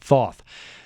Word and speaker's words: Thoth: It's like saying hot sauce, hot Thoth, but you're mispronouncing it, Thoth.